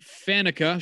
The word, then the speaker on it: Faneca: So let's start with Alan Faneca, or however it is you pronounce that, because Faneca is correct.